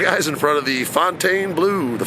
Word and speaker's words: Fontainebleau: in front of the Fontaine Blue the fountain blue some people pronounce it one way I pronounce it Fountain Blue that's basically uh the